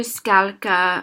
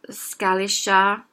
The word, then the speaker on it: skal ikke: Skal ikke might be said a little announced and separate, or it might be pronounced closer to skalka or skalisha. depending on the dialect, and something similar like that.